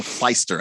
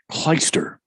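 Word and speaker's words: Clijsters: is kim clagisters magisters kim kleister i think is how it's pronounced chleister but yeah there's a j i like the clue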